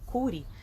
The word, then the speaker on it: Curie: Marie sklodowska E aí o sobrenome que ela recebe depois que é a grande dificuldade de pronúncia de todo mundo né que é o cure e nós falamos que se o biquinho é francês gente tá Qual a